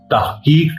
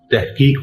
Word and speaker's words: تحقیق: اس لیے بہت سے طلباء مدارس تحقیق کہتے ہیں، جبکہ اردو کے صوتی مزاج کا تقاضا ہے کہ اس کو تحقیق پڑھا جائے.